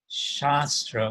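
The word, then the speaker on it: śāstra: happen by force uh they wield shastra with a short short a in the word shastra whereas brahmans wield shastra with a long a and as it said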